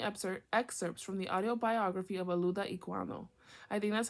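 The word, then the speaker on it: Olaudah Equiano: Experience by taking excerpts from the audiobiography of aluda iano I think that's how it's pronounced a I mean o l a u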